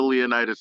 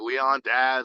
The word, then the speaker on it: Leonidas: But I had the Leonidas name, and people could not pronounce it, man. Like, they would say stuff like Leon Daz, like Leo Daz, and I'm just like, bro, that's not how to.